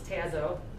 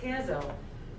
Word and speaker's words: Tazo: drink chai tea it's tazo caleb's like that says tazzo because o is an open syllable and it's a long vowel and my son ian's